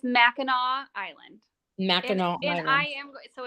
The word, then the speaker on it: Mackinac Island: It's Mackinac Island. Mackinac Island. So it's spelled Mackinac, Uh-huh.